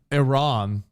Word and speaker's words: Iran: want me to do he said I ran instead of Iran so I don't know